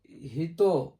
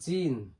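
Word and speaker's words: 人: দেখি ই নি ওকে two stroke হিত হিত উচ্চারণ হল হিত। একটা আছে হিত আরেকটা হল জিন।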